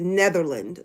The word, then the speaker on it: Netherland: case you don't know my first name is Netherland like the country and people often ask